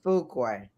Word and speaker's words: Fuqua: It's Fuqua.